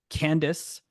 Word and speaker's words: Candace: Candace rhymes with canvas, but is not, has just put a link in the chat to our post-session assessment.